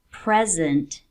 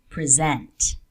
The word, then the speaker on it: present: For example, project and project, record and record, present and present. Do you notice a difference? Usually, not always, in 2-syllable words, nouns will carry the stress on the first syllable, while verbs on the second.